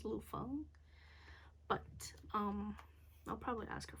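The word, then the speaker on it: Lu Feng: There's a pronunciation guide. Boop. Okay. Anja. Lufeng.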